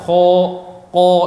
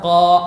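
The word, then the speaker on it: ق: Jadi salah kalau apabila kha diucapkan ko, ini salah. Ko yang benar qa, dibuka qa.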